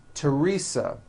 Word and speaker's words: Teresa: like to point out although these next words and names are spelled with a th they are pronounced as if they were spelled with with a normal T TT like that and